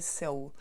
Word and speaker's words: Seoul: Soulmate, ça veut dire âme sœur en anglais, mais la prononciation de la capitale de la Corée du Sud, Séoul en anglais, c'est Seoul.